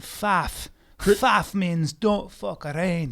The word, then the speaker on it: Pfaff: But the F is silent because it's from Scottish, and Pfaff.